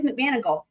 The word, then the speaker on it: McManigal: It is McManigal. It's spelled, here's how it's spelled though in Murdaugh, right? I told you guys, y'all, I always have to find the answers to things. So it's MC and then MAN. So not McGonigal, it's McManigal.